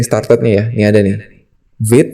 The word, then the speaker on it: Vite: Vite katanya ini kata dalam bahasa Prancis yang artinya quick atau cepat. Nah, cara pronunciation-nya atau cara nyebutinnya ada di sini, teman-teman bisa klik aja nih. Vite.